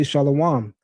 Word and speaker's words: shalom: The Hebrew word for peace, I say shalom. The masses of Israelites will say shalawam.